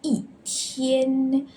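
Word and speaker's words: 一天: Before first, second, or third tones, we need to change E to fourth tone. So for example here, 一天，天 is first tone.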